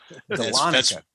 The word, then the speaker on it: Dahlonega: nobody can pronounce. Dahlonega.